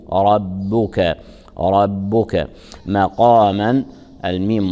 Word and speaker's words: ربك: صغرى ان يبعثك ربك الراء مفخمه والباء مرققه يراع ترقيقها فلا يصح ان نقول ربك بل نقول ورب ربك ربك مق مق مق